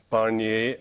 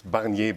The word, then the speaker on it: Barnier: end and of course Barney as bangy by the way not Barney oh are you telling